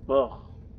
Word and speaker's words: Burr: Burr. That's how you pronounce it.